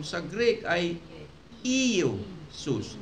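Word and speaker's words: Ἰησοῦς: Walang ye sa Greek. Walang letter ye sound. Walang ye sound. The closest pronunciation sa Greek ay Iesus. Iesus.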